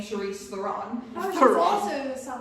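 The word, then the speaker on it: Charlize Theron: Like, listen, if Charisse Theron went off and did that, I don't care because she now pronounces her name Charisse Theron.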